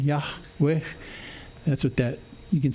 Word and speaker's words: Yahweh: Yahweh. That breathy sound at the end, Yahweh.